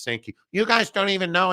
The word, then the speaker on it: Sankey: Very interesting timing that Greg Sankey, the commissioner of the SEC, and it's actually pronounced Sankey.